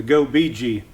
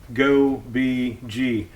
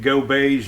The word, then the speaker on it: Gobege: Today we're going to be unboxing the Go Bee Gee. That is the way you pronounce it.